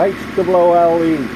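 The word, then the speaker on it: Hoole: It's spelled like H-O-O-L. Yeah. Is it? E with an N, no. H-O-O-L-E. Hool. It's still pronounced Hool, you know.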